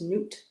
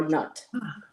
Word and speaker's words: Nut: And Pamela also pointed out her Egyptian equivalent is Nut or Nut, as some pronounce.